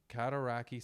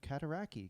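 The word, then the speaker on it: Cataraqui: yeah he had two I want to compliment you on your pronunciation of katari because I was looking at your document and that's a tough word it ends in qi just for people listening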